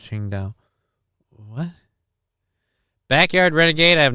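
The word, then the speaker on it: Qingdao: Symphony of the Night, Sing Sao is pronounced Ching Dao.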